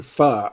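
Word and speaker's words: pho: have you ever eaten far far is spelled p-h-o can you repeat that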